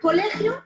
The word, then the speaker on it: colegio: Por ejemplo, en la palabra amistad, la sílaba tónica es ta, mientras que las anteriores son las sílabas átonas. En la palabra colegio, la sílaba tónica es